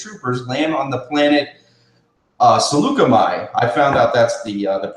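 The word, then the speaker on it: Saleucami: It says, Obi-Wan and Captain Rex's troopers land on the planet Seleucami. I found out that's the pronunciation of it. I used to call it Seekell.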